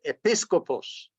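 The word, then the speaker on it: ἐπίσκοπος: blanca con una palabra en griego eso se pronuncia episcopos usted han huido de la conferencia episcopal Pues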